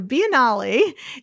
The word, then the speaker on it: Biennale: the venice finale which is kind of spelled like you mean like biennial but it is italian so biennale is the world's longest